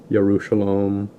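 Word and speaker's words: ירושלים: They're known as Habaru, Aparu, Hebre or Hebrew, Yud, Yahud was Judah, and there's no J sound, like Joshua, Yerushalayim, Jericho.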